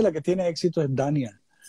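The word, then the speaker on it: Dhanya: Dania se escribe D-H-A-N-Y-A, Dania.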